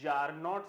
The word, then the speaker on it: czarina: First of ऑल the pronunciation is जार, not Cesare और scissor.